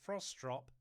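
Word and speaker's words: Frostrup: Mariela performative strop or I think as it's pronounced frostrop is a by all accounts journalist, broadcaster, author and campaigner.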